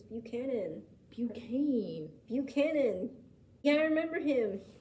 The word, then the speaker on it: Buchanan: Next up on this list is James Buchane. Wow. Oh, I remember this guy. You do? How do you spell it? Right here. Buchanan. It's Buchanan.